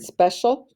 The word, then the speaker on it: special: c i a l just remember that the c i a l actually says shall all right write the word special two times s p